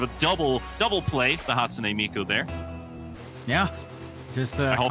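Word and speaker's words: Hatsune Miku: The Hatsune Miko there. Yeah, just I hope I pronounced that correct.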